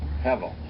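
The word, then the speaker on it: הבל: Hevel.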